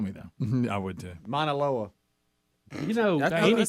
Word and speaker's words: Mauna Loa: That's how you pronounce it. Hawaii. Maunaloa.